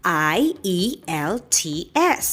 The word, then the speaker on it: IELTS: i am going to talk about the acronym i e l t s this is pronounced as ielts ielts is the international english language testing system